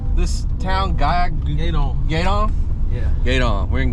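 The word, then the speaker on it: Gueydan: Also, how do you pronounce this town? Gaydon.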